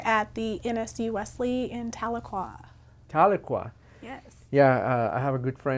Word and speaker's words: Tahlequah: Hi, I am the campus director at the NSU Wesley in Tahlequah.